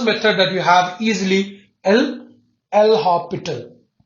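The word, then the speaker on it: L'Hôpital: Whenever it is 0 by 0, the first method that you have easily L hospital. It's hospital, they write it a hospital, they spell it. Okay, S is silent.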